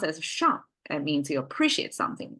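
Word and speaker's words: 赏: So the top is a shang, pronounced as shang.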